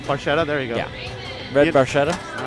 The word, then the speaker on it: Barchetta: game i just can't pronounce how do you pronounce the car bar peta barcuda or the multiballs barcelona marchetta there you go red barchetta all right there we go so there's